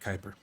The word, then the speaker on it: Kuiper: we need Amazon satellites so this is Amazon Kuiper even though it's spelled Cooper let's say how they say it Kuiper anyways Amazon Kuiper um